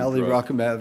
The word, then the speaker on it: alirocumab: In your conclusion, you say 77% achieved LDL goal with the new alirocumab, drug.